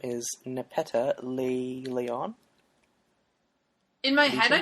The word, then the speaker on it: Nepeta: Also, her first name is like Neopet. That's true. I've been pronouncing her name like Nepeta, but what works for you? Nepeta.